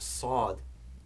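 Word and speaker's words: صاد: So whereas seen is quite light, we have sad, which is heavier. And the way that heaviness is produced is that the front of the tongue is in contact with the same point of the mouth in both seen and sad. But for the sad, that contact is harder. And also the back of the tongue is raised.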